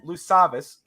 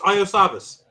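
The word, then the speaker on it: Iosivas: I think it's Lusavis. It's not a Lou. It's an Iosavis. It's Iosavis. Iosavis.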